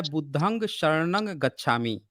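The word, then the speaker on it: बुद्धं शरणं गच्छामि: गलत कर रहे हैं उसका एक्चुअल उच्चारण है बुद्धम शरण गच्छामि और वो पाली का शब्द है जब उसका उच्चारण आप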